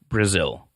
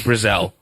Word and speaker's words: Brazel: Brazel, or I've heard it pronounced several different ways. It's not Brazil. Brazier? No, they never show a picture of his crotch, so I'm pretty sure it's Brazel.